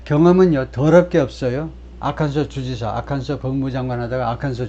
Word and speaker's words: 아칸소: 그리고 많은 그 잘 모르는 아칸소를 잘 모르는 사람은 아칸사스라고 발음하죠. 이거 이 S가 발음이 안 된다. 아주 특별하게 아칸소라고 발음한다는 사실을 모르는 미국인들 아직도 많습니다.